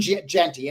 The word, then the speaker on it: Jeanty: are at the running back position, but Ashton Jeanty, and forgive me if I didn't pronounce the name correctly.